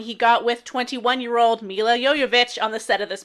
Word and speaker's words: Jovovich: Dare I ask his age when he got with Mila Jovovich? How do we say it? I always called it Jovovich, but it must be Jovovich? Jovovich. That's what the IMDb pronunciation guide told me.